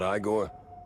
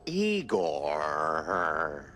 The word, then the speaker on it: Igor: Igor? Not Igore? No. Eigore.